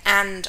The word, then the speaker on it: v: commercial bank of australia and armadio in criminal matters the v is pronounced as against the r is pronounced crown so that actually is said as crown against phillips now as you can